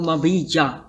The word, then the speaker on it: Mabija: You never know with a J. Yeah, sometimes it's very difficult to pronounce a J. The white people don't know whether to say J or Ja. But it's better if you are saying it correctly.